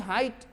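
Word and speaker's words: height: में हो या GST हो तो GH को साइलेंट कर देना है, जैसे HIGH हाई, देखते हो ना, HIGH हाई, HIGHT हाइट, FIGHT फाइट, है ना, GH ई नहीं घ घट।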